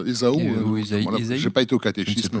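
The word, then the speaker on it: Ésaü: Jacob fuit son frère EAO on prononce Isao j'ai pas été au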